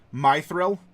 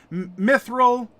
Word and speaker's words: mithril: have to commit perjury my thrill it's clearly pronounced my thrill yeah mithril me thrill my thrill what's English